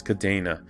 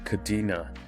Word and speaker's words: Kadena: at kadena or kadena i believe the pronunciation is kadena and this is a